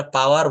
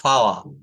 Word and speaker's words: power: আমরা পাওয়ার বলি, কিন্তু ব্রিটিশ অ্যাকসেন্টে শেষে আর থাকলে বা র থাকলে এর Power. উচ্চারণটা হবে না, এটা হবে ফাওয়া।